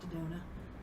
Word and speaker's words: Daddona: So I'm on Facebook I've got a page on Facebook, and it's just under my name, Daddona. And then I'm on How do you spell that for people?